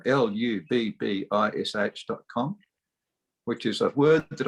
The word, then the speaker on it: lubbish.com: It rhymes with rubbish, but there's no R, there's L.